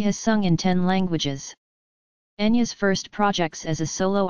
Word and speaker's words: Enya: the primary language her name is anglicized as Enya Patricia Brennan where Enya is the phone at expelling of Howie's knee is pronounced in Irish and I by trained translates